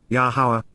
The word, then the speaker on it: Yahowah: of, panah, before, Yahowah, Yahowah, the proper pronunciation of Yahowah, our Eloah, God as directed in his Torah.